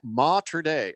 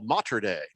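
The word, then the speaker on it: Mater Dei: it's mater d uh he says pronounced ma today oh matriday he says they open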